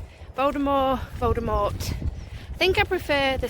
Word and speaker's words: Voldemort: The T at the end of his name is supposed to be silent, so it's supposed to be Voldemort.